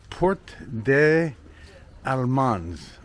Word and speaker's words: Porte des Allemands: Port I I can try to say it right, but it's port de Almans, but no s. I guess you don't pronounce the s's in France, so it's aland.